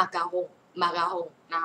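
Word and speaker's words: macaron: ก็ ไม่ ได้ พูด คน ฝรั่งเศส ก็ ไม่ ได้ เรียก ว่า มากอง เ เรียก ว่า มา กาฮง มา กาฮง นะ คะ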